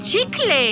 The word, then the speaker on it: chicle: Prononce chicle si tu veux avoir le style.